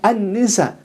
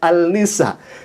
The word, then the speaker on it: An-Nisa: Seperti dalam Al-Quran suratun Nisa, ditulisnya Al-Nisa. Al-Nisa ditulisnya seperti itu. Tapi harusnya dibacanya An-Nisa, karena akan diketawakan ya ikhwah kalau misalkan dia mengatakan surat Al-Nisa, tidak kemudian dibaca An-Nisa.